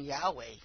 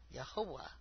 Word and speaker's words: Yahweh: and yah yahwah are some people pronounce his name Yahweh but I was asking him his pronunciation and I can't even pronounce yahwah yahwah that's how you say his name uh but they know